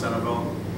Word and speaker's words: Centralville: And so the neighborhood I'm studying, it's spelled Centralville, it's pronounced Centerville, I don't know why.